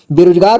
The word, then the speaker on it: बेरोजगार: है तो यहां देखिए बे इसे पढ़ेंगे बे रो बे र में की मात्रा रो ज ग र बेरो रोजगार बेरोजगार मतलब जिसके पास कोई